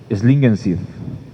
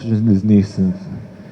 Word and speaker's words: Schlingensief: ¿Cómo se pronuncia, Andrea, ese apellido? Tú que sabes alemán. Schlingensief. Yo siempre le digo Christoph Schlineck.